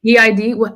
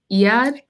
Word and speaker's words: Eid: said it was this okay e what was Eid how do you say the one that just passed EAD Eid Eid so E when I was in the